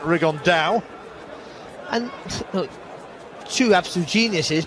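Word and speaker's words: Rigondeaux: fighting rigond though or as he's correctly pronounced with the uh the Spanish accent rig on Dao and look two absolute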